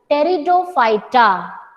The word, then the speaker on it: Pteridophyta: For the third division, while pronunciation the alphabet P it will be silent. तो spelling में आप P लिखेंगे, but while pronouncing you will call it as Pteridophyta.